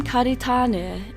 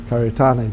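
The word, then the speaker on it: Kāritane: and more recently Kahu the name karitan is often misspelled with signage and official records missing the macron over the second a and that's how we grew up thinking it was Karan just without a macron and and and uh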